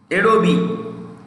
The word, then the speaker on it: Adobe: Adobe, E pronounce karna chahiye, E ko pronounce karna chahiye, not Adobe, Adobe, okay? Adobe, it has an Indian CEO.